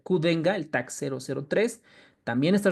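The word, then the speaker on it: Qdenga: es el X el kenga no así debe pronunciar kenga El Tac 003 también está recomendado por la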